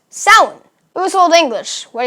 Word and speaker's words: Samhain: that looks like Samhain right but it's actually pronounced salad it was old English what are you gonna